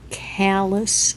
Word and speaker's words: callus: And this is a corn and callus razor. Callus, that's how you say it. Just sounds weird to myself.